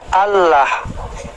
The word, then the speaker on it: Allah: Nah, cuman ini secara bunyi kan bacanya bukan A LH. bacanya Allah gitu. Dalam dialek yang lain ini dibacanya Allah.